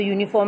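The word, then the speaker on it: uniform: तो यूनिफॉर्म में य की साउंड आ रही है, इसलिए हम यहाँ पर एन को ना पुट करके ए को पुट करेंगे।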